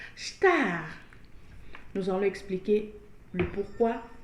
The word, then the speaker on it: estar: Notez que nous n'avons pas dit estar, mais nous avons prononcé star.